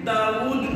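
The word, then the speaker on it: داوُد: داؤد تک، یہ داؤد یہ انجیل کے لفظ کے مطابق صحیح تلفظ داؤد ہے، لیکن انجیل کا جو اردو ترجمہ ہے اس میں واو کے اوپر حمزہ پڑی ہوئی ہے، اس لیے داؤد میں پڑھ رہا ہوں، لیکن اصل تلفظ جو ہے واو کے اوپر حمزہ نہیں ہے، واو کے اوپر الٹی پیش ہوتی ہے، داؤد تلفظ ہے اصل میں۔ تو بہرحال سب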